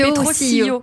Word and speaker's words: Petrosilio: Ouais, c'est Petrosilio, parce que c'est italien.